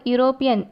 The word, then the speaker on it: European: Here in the first sentence, the word European start with the vowel E. But when we pronounce the word, you get the sound of U, Y-U.